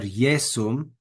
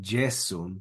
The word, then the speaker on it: Iesum: Gratia et veritas per Iesum, not Jesum, but Iesum, per Iesum Christum facta est.